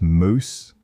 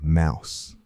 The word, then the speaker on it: mouse: The word that used to be pronounced moose became mouse.